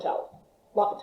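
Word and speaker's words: L'Hôpital: but we'll have a towel locked out anyway you don't pronounce the h um ignore that okay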